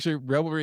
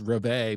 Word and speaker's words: reveille: But it turned out revelry is actually pronounced reveille, but I don't think anybody in America pronounces it that way.